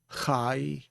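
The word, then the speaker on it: חיה: And you have the ah sound after the yod is sounded again. So that's chayah.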